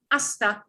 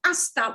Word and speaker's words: hasta: kind of phrase is hasta luego this word asta will come up in a lot of goodbye phrases hasta and we don't pronounce the h h okay next we